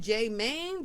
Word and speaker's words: Jmane: of having is it J Man J Man how do how do we pronounce it J Man J man yeah J Man how did